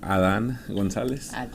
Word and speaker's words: Adan Gonzalez: So tell us the correct pronunciation of your name. So, mi nombre es Adan Gonzalez.